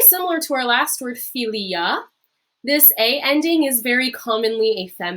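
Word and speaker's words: filia: so our next word philia philia uh philia philia remember that long uh that long eye is that e sound and that a e is that i sound from our pronunciation view this is our latin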